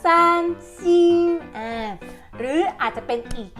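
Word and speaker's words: 三星: คะ ให้ เรา พูด ว่า สร้าง ซิง ชี ซาน ซิง หรือ อาจ จะ เป็น อีก ยี่ห้อ นึง ที่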